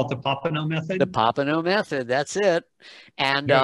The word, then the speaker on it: Popenoe: Popenoe method, that's it. And There you go. I also have a singer's course, pronunciation for singers, because I am a singer and it's really fun.